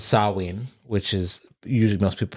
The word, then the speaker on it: Samhain: I know it is, as Suzanne says, Samhain, which is usually most people pronounce it Samhain.